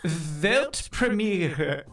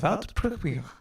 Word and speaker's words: Weltpremiere: How do you say world premiere in German? It's actually Weltpremiere. Yeah, Pretty similar, right? I think I can do that. Yeah, do it. Weltpremiere.